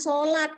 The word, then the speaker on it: salat: Tulisan sholat, gimana kalau di KBBI, kalau di WEBI, kalau di KBBI yang baku itu salat tulisannya ya. S-asa, L-alati, bacanya tetap sholat, tapi tulisannya salat.